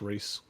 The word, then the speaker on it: Ries: have moved to twitter so i'm at reese art at twitter and reese is spelled with r-i-e-s uh no one gets the